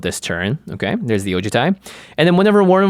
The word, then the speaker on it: Ojutai: largely oh to Thai yeah it's just mostly ojitai until the end there you got a wee